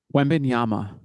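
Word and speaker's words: Wembanyama: love that so Wana how do you say it you say it wenyama okay I'm going to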